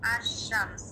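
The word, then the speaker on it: الشمس: যেমন এখানে একটা শব্দ আছে আশশামস। এখানে আশশামসের আগে আলিফ লাম আছে। এখানে লামটা আমরা উচ্চারণ করছি না।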